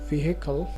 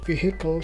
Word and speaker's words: vehicle: next war on our list is the word vehicle which is K often mispronounced as vehicle that again is a mispronounced would the word vehicle came from Latin and the first syllable is